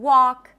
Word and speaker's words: walk: The L is also not pronounced in walk and talk. When there is an LK at the end of words, that is a common spelling pattern where the L is not pronounced.